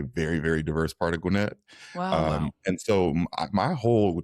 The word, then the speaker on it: Gwinnett: Am I pronouncing that right? Gwinnett County. Gwinnett. Come on, Michael. Okay. Even I knew that. All right. Gwinnett.